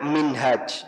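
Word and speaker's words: منهاج: dada tulisan Arab baik Kalau haknya panjang makan bacanya minhaj Hai ada buku yang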